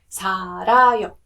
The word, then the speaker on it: 살아요: When you're saying 살다 or 살, then that rear sounds more like an L sound, right? But if you're saying 살아요, it sounds more towards the R sound.